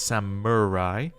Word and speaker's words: samurai: head just as the samurai did long ago I was told I said that wrong apparently I've been putting a y in the word don't know